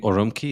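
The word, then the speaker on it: Ürümqi: Yeah, I've looked up the pictures of I think Urumqi is the way the city is pronounced.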